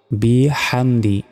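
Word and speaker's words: بِحَمْدِ: বিহামদি, বিহামদি, এখানেও বড় হা রয়েছে। রবা জবর রব, বাজের বি, কাব জবর কা, রব্বিকা।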